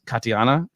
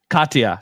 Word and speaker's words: Katya: Katiana. Am I saying that right? Katya. So I always say Katya.